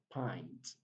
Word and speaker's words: pint: word is not pink it is pronounced as pint pint of blood pint of blood so